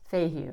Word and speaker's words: Fehu: Fehu is the letter F, Fehu. It's pronounced Fehu.